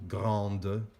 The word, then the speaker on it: grande: And often, when you add an e onto the end of the adjective, you actually pronounce the preceding letter. So grand becomes grande, and grand sounds the same as that because s is silent.